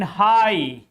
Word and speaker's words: high: In night, in high, in daughter, in high, GH is just after I. In daughter, GH is just after U. All these are vowels. That's why GH is silent in these words.